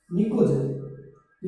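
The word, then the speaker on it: pnictogen: निकोजन इसे स्टार्ट करेंगे, P silent रहेगा, निकोजन।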